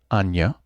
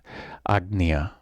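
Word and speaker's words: आज्ञा: Anya, Agya, or Agnya. Yes, the rules according to Sanskrit, Agnya, because there's a vowel ahead, so we pronounce the G more fully, Agnya.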